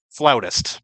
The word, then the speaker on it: flautist: debates so far about the proper way to pronounce her occupation like it's spelled flutist you know she plays the flutes I have heard flautist before mostly because of Family Guy